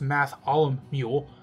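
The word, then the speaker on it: Mattholomule: realm the new kid mathal mule pronounced math Alum mule shows off some fake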